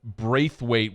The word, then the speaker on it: Brathwaite: Good job on the pronunciation there. I didn't know if you were going to get it. There's a town in Louisiana around St. Bernard Parish. It's Braithwaite.